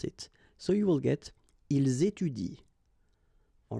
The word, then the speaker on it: ils étudient: so you will get ils étudient. All right, ils étudient. You don't pronounce that.